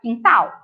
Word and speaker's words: quintal: Apareceu a letra U? Não. Então, nas sílabas que e na sílaba que, a gente não vai pronunciar a letrinha U, mas na hora de escrever, ela tem que estar ali.